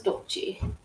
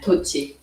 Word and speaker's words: Tochi: And I think here comes Dochi. I'm not saying that quite right. Tochi. It's close. Tochi. You say it as it rhymes with Tamagotchi, basically.